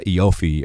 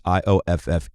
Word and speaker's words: Ioffe: everyone should read um julia eofy i think is the way you pronounce the last name it is ioffe was in the atlantic